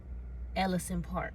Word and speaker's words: Ellison Park: favorite part it's called technically it's pronounced the correct way it's pronounced ellison park i think but i like to say elysian park because i just like how a lesion sounds so that i'm at